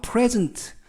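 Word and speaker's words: present: 많은 분들이 이 단어 프레즌트 라는 단어를 발음이나 뜻을 헷갈려하는 분들이 있어서 제가 짚어 드리겠습니다 이 프레즌트 는 명사로 쓰일 때 그리고 동사로 쓰일 때 강세가 달라지고 발음이 달라집니다 그래서 이 프레젠트 는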